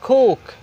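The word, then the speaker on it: cook: এটা হচ্ছে সি এর উচ্চারণ আসলে সি না, সি এর উচ্চারণ হচ্ছে খ, আপনাকে খ সাউন্ড উচ্চারণ করতে হবে। ইংরেজিতে আসলে মূলত ইংরেজিতে কোনো ক সাউন্ড নাই, সবসময় আপনাকে খ সাউন্ড করতে হবে, রাইট?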